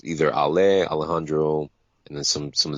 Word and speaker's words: Ali: Um, I go by, it's pronounced Ale. So I either go by Ale or Alejandro.